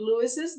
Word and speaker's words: Louis's: Pronunciation? Like Louis's.